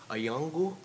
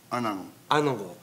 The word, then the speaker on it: Anangu: on various questions of Ayangu? Anangu. Anangu ethno-epistemology, and I've been practicing that word, and as you can see, I failed miserably, because it's not pronounced exactly as it's written, but revolves around the